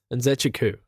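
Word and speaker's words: Nzechukwu: Nzechku.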